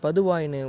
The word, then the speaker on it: பதுவை: தமிழ்ல பதுவை பதுவாய்னு உச்சரிக்கிறோம்.